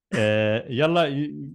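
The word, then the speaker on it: يلا: But in spoken Arabic, we just combine it, and it's pronounced Yalla as you pronounce it.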